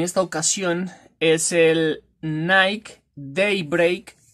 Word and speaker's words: Daybreak: ocasión es el nike daybreak si así se lee se escribe tie-break pero creo que se le de break aquí les dejo la